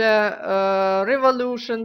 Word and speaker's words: Revolution: штуки читаются абсолютно одинаково они читаются шн не Тион не Сион шин иногда читают революцион какой-нибудь или что-то в этом роде нет это чие слово например Ой неправильно написала fion Вот так оно пишется Ай некрасиво опять О вот теперь красиво fion дальше Revolution допустим Revolution Revolution и да тому подобное запомните Вот это шин Вот это шин ни в коем случае не ставьте что